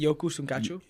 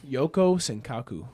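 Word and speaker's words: Yoko Sankaku: Yoku Sunkachu? Yoko. Yoko Senkaku.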